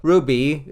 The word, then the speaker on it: RWBY: So, Ruby, it's spelled RWB Y, but I'm just going to call it Ruby, is a show that comes from the late and great Monty M.